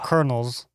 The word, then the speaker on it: colonel: Colonels like uh like corn or like No, like the the military position that's pronounced very differently from how it's spelled.